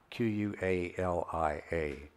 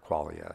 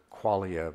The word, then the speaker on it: qualia: are are Aralia or qualia sometimes pronounced I prefer qualia because the the word it's closer to Quality right so I pronounce